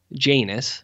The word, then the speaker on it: Janus: Oriana Steven no no no no no Janus okay is how it's pronounced favorite films are just